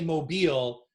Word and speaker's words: Mobile: say it mobile yeah so they get that accent is on the mo not the beel we better we better